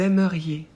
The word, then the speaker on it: aimeriez: Vous aimeriez. Pour vous, on ajoute IEZ qu'on prononce yé. Là aussi, faites bien attention à ne pas oublier de prononcer le I parce que sinon, ça devient aussi du futur.